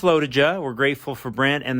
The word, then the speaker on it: LoToJa: of lotija lotija lotija maybe we should have clarified that with brent how to pronounce the race's name pretty sure it's low to ja we're grateful for brent